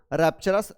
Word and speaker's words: rupture: रैप्चरस, रैप्चरस का meaning होता है रैप्चर, RAPTURE, रैप्चर।